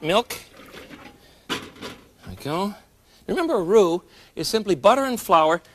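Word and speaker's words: roux: I go remember a rue is simply butter and flour mixed together so that you can use it as a thickening agent. It's spelled R O U X.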